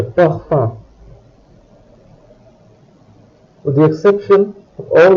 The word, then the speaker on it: parfum: In this case, O and N combine to produce a nasal sound. Le parfum.